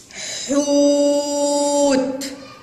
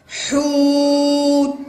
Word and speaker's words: حوت: حوت. حوت. نعم ايضا بها مد بالواو، انها ضمه قويه وشديده. حوت. والحرف الذي يسبق المد بالواو عليه ضمه وهو حرف الحاء.